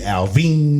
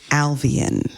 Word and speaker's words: Alvan: okay guys all right check it out it's three syllables all right so just remember I'm not a nothing against 80-year-old women sitting in their rocking chair on their porch but Alvine is a southern much older woman in her rocking chair on her wraparound porch of her Victorian home okay my name is alvan it's three syllables said as if it was done in water alvan thank you okay